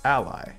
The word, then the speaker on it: Allie: Since names are important, we can consider pronouncing Allie's name as Ally.